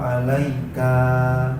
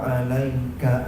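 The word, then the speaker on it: عليك: Nah, nanti ketika di bacaan yang berikutnya, assalamu alaika, kanya panjang, harusnya pendek. Assalamu alaika ayyuhan nabiyyu.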